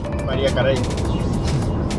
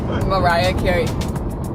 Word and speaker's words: Mariah Carey: María Carey. Mariah Carey. Para vos. Para nosotros es la María Carey.